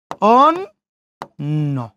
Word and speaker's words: অন্য: জফলা আছে, জফলার আগে অ আছে, ওই জন্য অয়ের উচ্চারণ ও। শেষে নর সাথে জফলা, ওই জন্য নর উচ্চারণ 2 বার। অন্য।